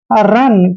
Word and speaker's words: run: जब भी दो कॉन्सोनेंट के बीच में यू आता है तो यू का उच्चारण हम ए करते हैं, इसलिए इसको पढ़ेंगे हम रन।